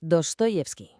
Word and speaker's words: Dostoyevski: Se pronuncia tal cual, Dostoyevsky. Venga, vamos a meternos de lleno en su universo. Y sí, ya me lo imagino. Dostoyevsky.